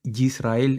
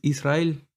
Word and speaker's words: Israel: miren es algo porque he visto que a veces se tiende a pronunciar la palabra Israel con una ye de de yuca Por así decirlo o de yema y no es correcto no es yisrael es Israel es una I no es una y la